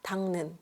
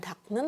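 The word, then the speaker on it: 닦는: mengelap ya mengelap nah ini di dibacanya ketika apa sanggok atau double K itu double G itu di ketemu dengan Nen atau n dia dibaca Eng ya tangnen Jadi bukan tnen tetapi tangnen tangnen iunen Nah di sini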